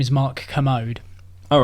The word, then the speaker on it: Kermode: His name is Mark Kermode. All right. And he works for the BBC. He has is that a K? I always thought K. it would be spelled with the C. K-E-R-M-O. Like the commode.